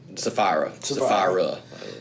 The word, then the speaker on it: Sapphira: say, well, Ananias and Sapphira. I hope I wasn't saying Sapphira. Think of the jewel and add an A. There you go. Sapphire.